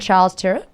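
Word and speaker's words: Charles Tyrwhitt: best so you've previously been at Aspen and Charles turet did I say it right y that's right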